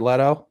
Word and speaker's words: Leto: Let's go Leto and am I pronouncing his name right, Jeff? I swear to God, if I get it wrong. Jared Leto.